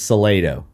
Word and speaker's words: Salado: in a town get to pick how it's pronounced. Yeah. And so it is Salado.